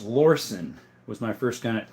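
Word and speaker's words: Lorcin: It's actually pronounced Lorson was my first gun at like 13.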